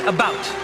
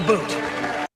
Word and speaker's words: about: And I pronounce it about, not a boot.